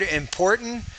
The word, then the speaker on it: important: And the word important, that's fine. You did not pronounce the T. You used the glottal stop instead. That's perfectly fine. That's exactly how native speakers would say that word.